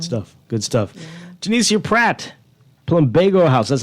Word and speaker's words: Plumbago: Janicia Pratt, Plumbago House.